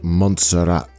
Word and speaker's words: Montserrat: I'm in a place called Monestir de Montserrat, I think. Monestir being monastery and Montserrat meaning sawtooth mountain. So, it turns out I can't read or in fact speak. It's actually pronounced Montserrat.